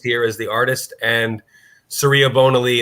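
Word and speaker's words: Surya Bonaly: as the artist and serea bonaly that's how you pronounce her name dr george surya and then bonaly she is a world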